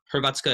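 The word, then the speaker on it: Hrvatska: croatian it literally means uh croatian um is herbatsuka is how you say croatia in croatian and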